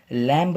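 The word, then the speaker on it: lamb: कभी भी याद रहे एम के बाद अगर भी आता हो कहीं भी किसी भी वर्ड में तो बीच हमेशा साइलेंट होता है यानि कि बीच का जो प्रनंसीएशन होता है वह नहीं करते हैं जैसे यहां पर देखिए लिखा है पहले ईजी है पहले MB लैंब नहीं पड़ता है इसे बोलते हैं लैंप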